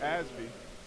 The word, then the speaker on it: Osby: got in the middle Romero Osby actually pronounced asby is the center tonight